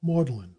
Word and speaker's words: Magdalene: great number of such decayed pronunciations for example maudlin for Magdalene College sister for Saren Chester